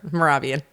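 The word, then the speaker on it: Mehrabian: Morabian. M E H R A B I A N. You know, whenever they throw an H in there, you're not quite sure how to say it.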